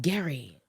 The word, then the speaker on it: Gerry: from Eldridge Gary yeah I pronounced it Gary Eldridge Gary Eldridge Gary